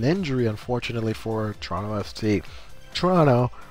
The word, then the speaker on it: Toronto: Toronto, the first O is silent.